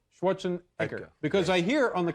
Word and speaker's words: Schwarzenegger: Uh now tell me about your your name is pronounced Schwarzenegger or Schwarzenegger now. Schwartzene Eka. Schwarzenker because I hear on the commercials for this movie it sounds like it's been changed to Schwarzenegger.